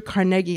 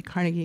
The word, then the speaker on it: Carnegie: So Andrew Carnegie, I'm going to pronounce it Carnegie because everybody was impressing on me that you can't say Carnegie when you're talking about him.